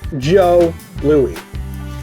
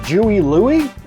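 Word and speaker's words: Jos Louis: not a moon pie joe louie and not as i once heard it called a jewie louie no i can understand screwing up on the joe though because it's spelled j-o-s it's a french thing it's a chocolate cream-filled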